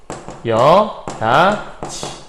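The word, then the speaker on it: 여닫이: 그러니까 조금 여기다가 보기 좋게 정리해드리면 여닷이라는 글자는 여다디가 되는 거고요. 여다지 이렇게 발음 생각하시면 돼요.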